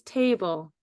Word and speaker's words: table: So the first syllable is te. T-a. And then our last syllable is bull. B-ul. So I have that leaf there to remind you that there's, with the 2 dots on it, you have the ul and then that silent letter, table.